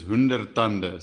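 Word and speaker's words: Honderd Tande: So how we pronounce it is Hundertande.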